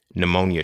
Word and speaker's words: pneumonia: Pneumonia should not start with a P.